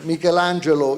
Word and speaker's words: Michelangelo: Michelangelo, as we say in Italy with a more Italian pronunciation, Michelangelo used to say that